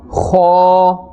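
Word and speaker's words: خ: the halqiyya letters, and it is pronounced from the top part of the throat. This will give you a scraping sound.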